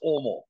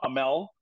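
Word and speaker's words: Åmål: So it's pronounced Omal. Yeah. Amal. And so for the North American, it's not Amel, it's Omal.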